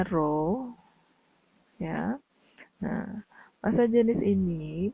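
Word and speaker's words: ρ: atau simbolnya roh Ya seperti huruf v tapi dibacanya roh ya Nah massa jenis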